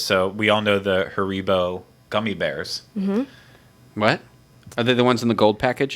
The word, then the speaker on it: Haribo: it how's it pronounced Haribo in yeah Haribo in English and then Harry tie your shoelaces her Rebel oh like mine sounds like the Spanish version yeah they are not